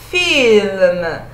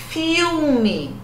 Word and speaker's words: film: A língua vai lá em cima, né? Film. Não é filme. Filme. A gente fala no português filme, né? Ah, vou assistir um filme. Vou ver um filme. Filme, pronunciado assim no italiano, filme é rio em italiano, ragazzi.